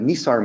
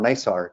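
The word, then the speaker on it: NISAR: be on the uh the nissar mission or nysar depending on how one pronounces it this will be launching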